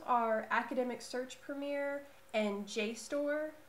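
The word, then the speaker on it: JSTOR: academic search Premiere and J store which is spelled jst o r all capital letters um so those are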